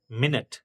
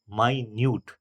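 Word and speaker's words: minute: जैसे आप लिखिए एम आई एन यू टी ई क्या होता है? मिनट पर एक सेम ही इसी स्पेलिंग का दूसरा साउंड हो जाता है। एम आई एन यू टी ई माइन्यूट। यानी कि इनका ग्राफिक है वो सेम है। पर साउंड डिफरेंस है। एक मिनट और दूसरा माइन्यूट।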